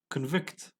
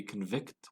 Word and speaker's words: convict: Convict could be a noun and could be a verb. When it's a verb, we say convict. When it's a noun, we pronounce it as convict.